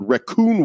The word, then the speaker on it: Rakun: Our other sponsor for this episode, Raccoon World, and it's not spelled like the animal raccoon. It's spelled RAKUN, Raccoon World, and they've created